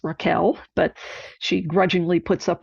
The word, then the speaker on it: Rachel: character Rachel wild who she would tell you her name is pronounced Raquel but she grudgingly puts